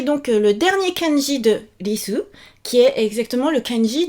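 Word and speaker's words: りす: Écoutez bien, je dis risu. Donc, mon RI en romaji, c'est pas risu. C'est pas non plus lisu, mais c'est un truc qui est entre et qui fait presque disu. Entre le R, L, D.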